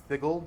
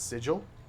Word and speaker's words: Sigil: up in previous episodes this is pronounced ziggle not sigil that's from a plan